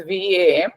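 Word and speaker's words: वं: Vam sound, that is in the Sanskrit, it is written in English, that is VAM, but that the pronunciation is Vam.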